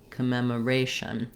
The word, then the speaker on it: commemoration: a uh patterning that's one of the more consistent syllable stress patterns we have in English that when there is an asan you can stress on the a syllable so similarly the both of these O's are going to say the a sound kma kma that's because that part needs to go by very quickly and it's going to be reduced vowel sounds this one I would